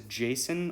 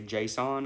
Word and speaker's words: JSON: like i said the most common one is jason or json i personally say json i don't know why but um you if you can pronounce it either way and people will know what you're talking about and that's just a